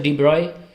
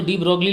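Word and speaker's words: de Broglie: एक तो डी ब्रोगली ले गए, जिसको आप डी ब्रोगली बोलते हैं, उसका सही प्रोनाउंसिएशन बता दूं, डी ब्रॉय है। लुई डी ब्रॉय बोला जाता है उनकी कंट्री में उन्हें, आप चाहें तो इंडियन इंग्लिश में डी ब्रोगली बोल सकते हैं।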